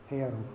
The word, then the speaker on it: Perm: We ended up in the city of, it looks like Perm, like a permanent, or permafrost is spelled the same way in English, but it's pronounced Perm, okay?